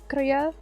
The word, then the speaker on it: Kruger: So, an Afrikaans person told me that the name in South Africa was supposed to pronounce it like Kruger with a K, but like I'm very English, so it's Kruger.